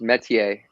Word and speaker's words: Métier: well first of all it's pronounced metier not meteor which is often uh